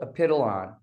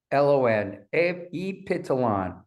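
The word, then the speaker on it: Epithalon: least from what we know now, is called apiteolon. Now, it's just like it sounds. It's spelled E-P-I-T-H-A-L-O-N, apiteolon.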